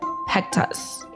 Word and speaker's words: Pektas: won't want to miss today's guest is Peck toss I said it right you said it good